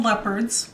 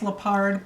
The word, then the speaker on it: Leopard: It is Carol Leopard's, which by the way I always thought her name was pronounced Leopard, but since she pronounced it Leopard, I guess I will too.